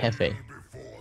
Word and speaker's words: Hefe: how do you pronounce it? Yeffy. Hefe.